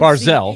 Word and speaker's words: Barzal: Barzal, I just don't Barzell, see even though it's spelled Barzal.